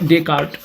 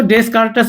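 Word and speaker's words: Descartes: नाम है Renee डेकार Renee डेकार वैसे तो डेस्कारस भी कह सकते हैं।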